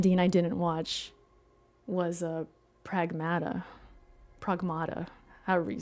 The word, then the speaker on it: Pragmata: Pragmatada.